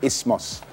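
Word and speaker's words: isthmus: up and then I found out how to pronounce it's i s t h m u s but it's really ismos um try put in the th is the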